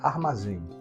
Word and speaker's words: armazém: pensar aqui na palavra Armazém ar ma Zé Qual é a sílaba túnica de armazém Armazém a ca tônica é o zen e a palavra Armazém